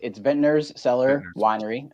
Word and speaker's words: Vintner's Cellar Winery: Like, how do I pronounce the whole business name? Yeah, so it's Vintner's Cellar Winery.